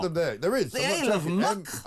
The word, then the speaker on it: Muck: Muk. Isle of Muk. Muk. There's there's an island called Muk. Put them there. There is a muk.